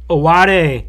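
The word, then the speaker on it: Ayoade: Ben seller Vince Vaughn Jonah Hill and Richard awade awade I watched him pronounce his own name oh good thank you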